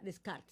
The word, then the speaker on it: Descartes: Para la gente que no sabe pronunciar descartes, no se pronuncia descartes. Yo también salí de la ignorancia. Se pronuncia descarts.